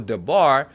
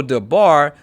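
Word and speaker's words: דבר: Once again, using the example dabar, the syllable bar is the tone or tonic syllable because it is the accented syllable. In the example sefer, the syllable se is the tonic syllable because it is the accented syllable.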